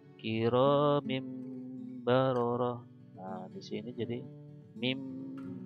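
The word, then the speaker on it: كرام بررة: Contoh yang lainnya ini ada kasroten atau tanwin kasroh bertemu dengan ba, maka bacanya bukan kiromin baroroh tapi kiromim baroroh.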